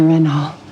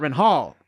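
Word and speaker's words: Renhol: Renhall. Renhall. Yeah. She's not Renhall. Renhal.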